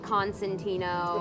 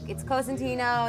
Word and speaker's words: Cosentino: 'Cause How do people pronounce it in the States? like Constantino, Constantino. or Corsentino, Right. and then they spell it like Consentino, and like All right. they always fuck it up. So I was like, it's Cosentino, it's spelled this way, and then we were like, that's boring.